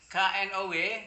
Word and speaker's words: know: itu bedak ya jadi talk bacanya to ask bacanya ask kemudian k n o w q n o w i know bacanya bukan